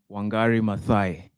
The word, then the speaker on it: Wangari Maathai: So it's pronounced Wangari Maathai.